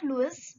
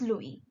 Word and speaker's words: Louis: It's not Louis, it's Louis. S is silent, okay?